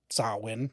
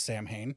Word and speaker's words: Samhain: I learned the actual pronunciation of sawin versus Sam Hayne right but what I just learned in doing research for this show the bonfires attracted bats.